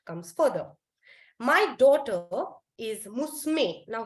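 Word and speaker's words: むすめ: further my daughter is musume now here the word is written as Mo Sumi but when you're pronouncing it when you're saying it out loud you say musume and not musume okay someone else's daughter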